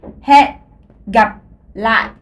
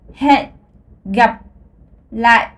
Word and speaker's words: hẹn gặp lại: Alors, je refais he, gap, la. Alors, une autre chose, c'est que dans la langue vietnamienne, le H, ça se prononce. C'est un H aspiré, c'est comme dans l'anglais.